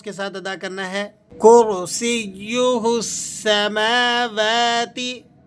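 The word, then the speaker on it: كرسيه: کرسیہ السماوات. کرسیہ، را کو آپ نے پر کر کے ادا کرنا ہے اور سین کو یا سے جماؤ کے ساتھ اور مضبوطی سے ملا کر پڑھنا ہے.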